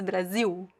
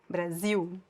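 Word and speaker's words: Brasil: Don't pronounce the L at the end of Brazil. Don't do that. It's Brazil. Brazil. We do write uh and actually write without the Z. We write with the S and the L at the end. And the pronunciation is Brazil.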